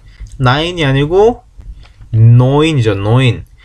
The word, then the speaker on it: neun: 9이 아니고 neun이죠. neun. 에하고 우가 붙으면 에하고 우가 있으면 이 이중모음은 오이라고 읽는다. 오이.